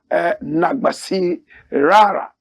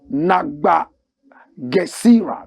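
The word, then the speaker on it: Nabagesera: My country is in a state of insanity right now, said Ugandan gay activist Kasha Nagbasi Rara. Kasha Nagba Gesira, that's the correct pronunciation, adding the gay community expected to challenge the bill in court.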